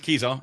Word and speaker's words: Kezar: But yeah, shall we talk about Kezar Stadium? I would assume that's how you say it. Yeah, it's Kezar. It's 100% Kezar Stadium.